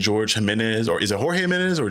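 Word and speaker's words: Jorge Jiménez: Batman Volume 4 by Matt Fraction and George Jimenez, or is it Jorge Jimenez or George Jimenez? Jorge Jimenez. Jorge Jimenez.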